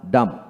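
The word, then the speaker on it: dumb: ও M bomb bomb D ইউ এম বি ডাম ডাম বি হবে না দেখে ডাম ডাম ডাম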